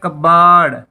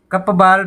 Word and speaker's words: cupboard: CUPBOARD, इसको बोला जाता है कबाड़। कपबार्ड नहीं बोला जाता, कबाड़ बोला जाता है।